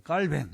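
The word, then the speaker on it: Calvin: 칼빈 잔 켈빈 아이 이제 프랑스 어를 쓰던 제네바 중심으로 살다 보니까 어 그 깔뱅 뭐 이렇게 발음하기도 하고 예 장 깔뱅 영어로는 존 캘빈 뭐 이렇게 이제 바뀌게 되는 거죠 자이 칼빈은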